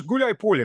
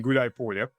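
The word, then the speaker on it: Гуляйполе: The main fortress being Gulay Polya, which, by the way, it's two words combined to one, Gulay and Polya.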